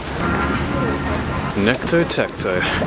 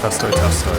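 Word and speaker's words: Песто Тесто: Necto Tecto. It's actually pronounced pesto testo, because I couldn't read Cyrillic well at the time, but we were definitely in the mood for Italian.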